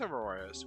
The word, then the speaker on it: Aurorus: of AAR us it is Aurorus wait I was saying it right this whole time let's go guess Aurorus